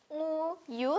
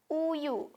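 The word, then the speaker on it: 우유: depan enggak dibaca ya Jadi bukan nguyu tapi Uyu si iengnya tidak ada suaranya oke terus kita lanjut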